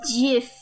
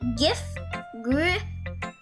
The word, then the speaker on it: GIF: I pronounce it GIF for graphics. So like how I'm pronouncing it, right? Like GIF, I mean, I know I'm not president or vice president or anything.